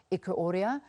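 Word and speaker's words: Ikhuoria: have the one campaign Africa executive director Edwin Eko Oriya please Edwin if I have pronounced your surname incorrectly please correct me and he joins us via Skype good to have you thanks for having me it Quarrier got it thank you very very much for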